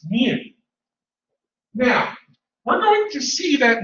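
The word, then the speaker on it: μ: population is represented by what looks to be you but it's pronounced new now we're going to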